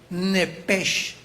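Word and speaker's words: נפש: Apunta, por favor, la palabra alma en el hebreo, que es la palabra, te la voy a pronunciar como se escribe nepesh. SH al final con n de Nancy al principio.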